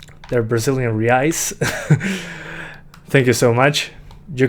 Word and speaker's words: reais: Sorry if I messed that up, for the 2 Brazilian reais, I think it's pronounced. They're Brazilian reais.